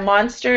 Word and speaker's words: monster: Yeah, it's this monster is the same one. So this O sounds like ah.